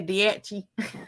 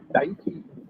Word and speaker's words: Daiichi: I used to always say Diachi. I don't know if we're saying it right or not. I don't know if I'm even saying it right. Diachi. Daiichi. Sounds like a sneeze.